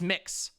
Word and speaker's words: Mx: miss or misses but it's mx it's mix like like mix you say it like that you say it like mix like mixed dizzy or or mix brown so if you're like hi mix brown it's it's super super